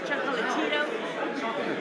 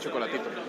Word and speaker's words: Chocolatito: It's like, Well, we gotta say it like Mannix does Chocolatito. Like next time Chocolatito. no, they cut out the A. Chocolatito. Chocolatito. Like chalkboard, Chocolatito. Chocolatito.